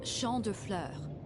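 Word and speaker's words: Champs de Fleurs: Champs de Flores? How do you say that? It's Champ de Fleurs. It means field of flowers.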